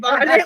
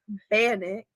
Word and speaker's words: bannock: There was God, bonnet, what the fuck? Bannock.